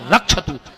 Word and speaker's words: रक्षत: वो एक मंत्र पढ़ भार भक्षत भैरवा जबकि शुद्ध उच्चारण है भार रक्ष अब तुम जजमान के